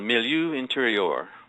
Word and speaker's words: milieu intérieur: Okay, well, there's a, I'll mispronounce the French, I'm sure, but there's a term called milieu intérieur. Perfect. Yeah. Did I do okay? Yeah, and perfect.